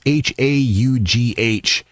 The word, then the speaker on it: Howe: Speaking of the troops, General Tim Howe, I hope that's how his name is pronounced. It's Haugh.